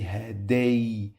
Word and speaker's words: هدية: But pay attention, I pronounce the letter 2 times. I say haday. Yeah. Okay, so I pronounce it another time. It's 2 times pronounce it. Yeah. Haday. Haday. So when I pronounce the letter 2 times, we have shadda here. When we find this mark on the top of any letter, it means I must pronounce it 2 times.